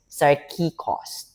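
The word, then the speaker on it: σαρκικός: So, sarkikos, or the pronunciation is sarkikos.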